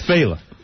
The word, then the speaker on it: Fela: I don't even know how to pronounce it. It's Fela.